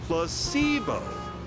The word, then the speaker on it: placebo: to our vocabulary today repeat after me placeo H the stress is on the middle syllable very good you're feigning